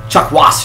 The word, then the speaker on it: Chakwas: Chakwas, you have to put the emphasis on the second syllable.